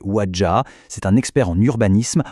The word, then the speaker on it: Ouadja: Et à l'origine de ce manifeste, on trouve un homme, le docteur Alain Kossig-Bati Ouadja, prononcé Ouadja.